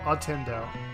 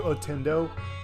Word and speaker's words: Ottendo: Now, grab the word Nintendo. Remove the t on the otter, and remove the nin on the Nintendo. Merge them together, and that's how you pronounce my username.